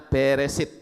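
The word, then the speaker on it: בראשית: Beresit, ya, bet, res, alef, shin, yotau. Membacanya beresit.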